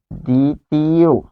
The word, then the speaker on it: দ্বিতীয়: দিব সেটি হচ্ছে দ্বিতীয় দ্বিতীয় এটির উচ্চারণ হচ্ছে এরকম দি তাহলে উচ্চারণে বফলা আসলো না তারপর তি কেন